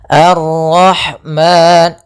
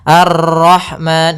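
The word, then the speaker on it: الرحمن: arrahmanirrahim ya maka di sini ada Ro tafkhim pada lafal Ar kemu kemudian ada lafal ha arah ah bukan Rahmani tapi ha kecil Arrahman ya arrahmanirahim Ma ada Madi yaitu fathah ketemu Alif panjangnya dua harakat kemudian nirahim ah hati-hati kesalahan yang sering terjadi dalam memantulkan rnya banyak misalnya Arrahman Nah ini salah untuk pantulan dalam huruf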